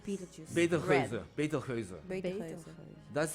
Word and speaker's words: Betelgeuse: Beetlejuice. Beetlejuice. Betelgeuse. Betelgeuse. Betelgeuse. That's how you spell it in Dutch, and it's better to juice. It sounds like juice, but it's just Betelgeuse is the Dutch name.